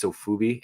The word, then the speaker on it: Sofubi: But the more I look at him, I love the it's Sofubi, I believe is what, right?